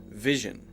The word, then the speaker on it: Vision: and the G sound so when you say the V sound just like we talked about before make sure that is very clear touching your bottom lip to your top teeth but then immediately you have to go to Gigi now it's not a J sound it's not Jim that's